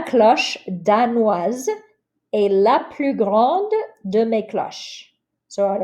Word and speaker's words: grande: Notice I pronounce the D because of the E, grande.